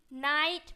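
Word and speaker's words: night: है आपको स्पेलिंग में आपको करना है बट प्रोनाउंस में क्या करना है जीएच को नहीं पढ़ना यहां पे एन आई टी नाइट मतलब जी एच को पढ़ना ही नहीं है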